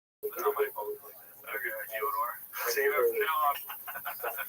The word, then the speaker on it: Fyodor: I'm like, yeah, well, that's kind of the accepted American pronunciation of Fyodor, though. So I wanted to ask you if it was Fyodor.